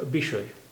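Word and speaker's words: বিষয়: आप जानते हैं कि वा की आवाज़ बा हो जाती है, शा की आवाज़ थोड़ी सी गोल हो जाएगी, तो इसका उच्चारण हुआ विषय, विषय, विषय।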